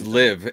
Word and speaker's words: LIV: It's LIV. It rhymes with give. Okay, LIV, so the PGA LIV Tour and LIV, the Saudi Arabian back.